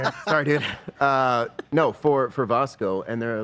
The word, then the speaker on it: Vasco: Apparently, it's Vasco. Not Vasco. I tried with the hard "a," and I was corrected that it is Vasco. Vasco. Okay. Like Vasco de Gom. It is Vasco. You pronounce it Vasco.